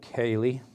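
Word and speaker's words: Kai'li: We'll have a quick look at the specs of that actually, because I'm not 100% sure on, I'm sure it's called Cayley. That's how you pronounce it.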